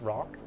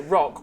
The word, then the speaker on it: roc: I think it's pronounced rock. It is pronounced roke because if I pronounced it rock, all I would get sent is Dwayne Johnson pictures.